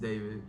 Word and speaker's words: D4vd: Pronounced David, not D4vd.